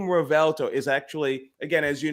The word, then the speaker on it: Revuelto: But if you think about a more literal native translation of the term revuelto, or V is pronounced B in Spanish, right?